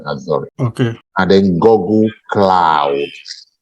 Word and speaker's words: Azure: Amazon AWS, Microsoft Azure, pronounced Azure, even though it's written Azure.